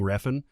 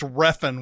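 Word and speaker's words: Refn: movie has started this collaboration with Nicolas Winding revin and that is the correct way to say his name I would have never guessed reffing was right yeah how an American would pronounce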